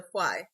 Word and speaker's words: Fuai: Okay, so Fuai. Okay, I was saying it right.